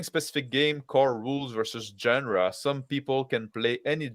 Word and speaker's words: genre: Really soft G, genre.